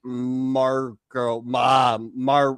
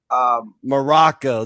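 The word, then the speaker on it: Muraco: Bob Orton and Magnificent Marco. What the? I'm saying his name all wrong. Magnificent how do you say his name, Jason? Morocco. There you go.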